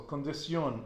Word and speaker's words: condición: So condición, ambición, okay, formación, you're always going to put the stress on the end.